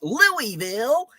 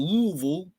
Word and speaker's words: Louisville: I say Louisville like a damn Yankee. Louisville. I know the proper pronunciation is Louisville. You just say it with as few vowels as possible. Louisville.